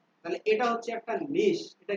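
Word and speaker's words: niche: নিশ। বলেন তো কি? এটার উচ্চারণ কি বলি আমরা? আরে দুনিয়াতে কি শিখতে আসলাম? CHE। এটাকে কি বলা হয়? নিচে। নিচ বলা হয় না নিচে? এটার উচ্চারণ হবে নিশ।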